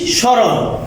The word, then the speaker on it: স্মরণ: ঠিক সেমভাবে এখানে আছে কি স্মরণ, ময়ের উচ্চারণ সাইলেন্ট।